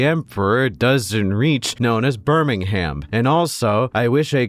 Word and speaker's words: Birmingham: I speak the Queen's English just like you, and just because I decide to pronounce the H in Birmingham doesn't mean I'm any lesser than you guys.